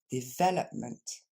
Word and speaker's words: development: pour la bonne nouvelle son dérivé le développement va fonctionner exactement pareil DEVOP à savoir on garde le même accent tonique sur le V et le L est toujours prononcé le on décompose ensemble